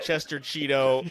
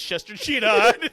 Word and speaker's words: Chester Cheetah: I got Chester Cheeto, and I didn't even say it. It's Chester Cheetah. I didn't say it right.